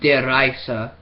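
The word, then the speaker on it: Der Riese: takes place, that at least the original map, Der Reise, because that's how you actually pronounce it.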